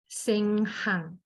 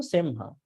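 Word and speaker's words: semhaṃ: did you say Senghang or Semhang? Sem hang. Sorry. Semhang. So it Sem- has to be M, not N.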